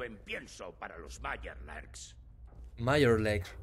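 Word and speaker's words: Mirelurks: Meyerlurks, sí, se pronuncia así en serio.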